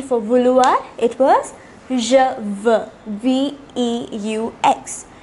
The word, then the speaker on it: veux: It was je veux, V-E-U-X. There also, the X was silent.